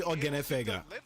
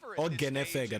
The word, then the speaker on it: Ogenefega: We had our doubts about So the KC, how to pronounce is actually Ogenefega. Ogenefega. That's how it's said.